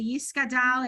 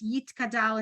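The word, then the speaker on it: יתגדל: no dot in it, they will pronounce it like a S, right? Like some people will get up and say Yiskadal and Yiskadash, even though it's Yitkadal and Yitkadash, because they have that that traditional Ashkenazic pronunciation.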